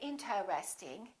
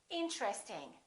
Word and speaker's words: interesting: at a few more most people don't say interesting they say interesting interesting this TR are connected interesting look at this